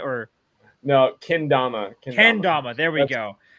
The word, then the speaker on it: Kendama: He picked up Kadama. No, I said it wrong again. Kendama, yeah, you said that right.